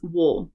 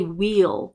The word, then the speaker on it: we'll: your attention to this wool, okay? It's we will, it's contracted to wheel, but we don't usually say wheel, we say wool, wool, okay?